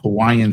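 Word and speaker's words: Cauayan: And it's called Kauaian City. It's spelled like you would hear Kauai, but it's spelled with a C. not K.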